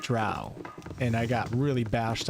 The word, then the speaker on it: drow: me I was so young um my Hermione pronunciation was Hermione and I also said Dro not drow and I got really bashed online for that